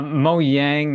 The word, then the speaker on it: Mojang: Mo Yang, if you're going Mojang? by like how yeah, Swedish, the How they J is say it. like a Y.